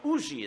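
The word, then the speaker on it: Huger: So we had landed at the plantation of a Monsieur Auger, a Benjamin Sugar, or Ougie is the way they pronounce it there in South Carolina, an ardent patriot, but he had mistaken me and my companions for Englishmen.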